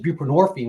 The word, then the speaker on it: buprenorphine: on suboxin which is buprenorphine which rhymes with morphine and these are Narcotics